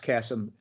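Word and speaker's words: Qesem: in israel it's called kesem uh spelled kesem uh well it's it's pronounced chasm spelled q-u-e-s-e-m and it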